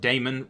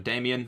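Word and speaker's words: Daemon: Damon will inherit it I actually said Damon as it supposed to be pronounced rather than Damian which is what I usually do I do that it's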